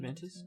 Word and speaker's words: Dementors: Dementors?